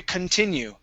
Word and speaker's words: continue: Where does the story continue? Continue. Okay, the stress is not at the beginning, so I pronounce the C-O-N as kun, continue. Continue.